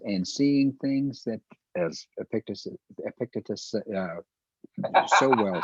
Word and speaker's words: Epictetus: A Stoic by the name of I'm going to mispronounce. I always mispronunciate my Greek. So Epictetus. I can help there, Mark. It's Epictetus.